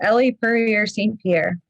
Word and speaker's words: Elle Purrier St. Pierre: Yeah, it's Elle Purrier St. Pierre.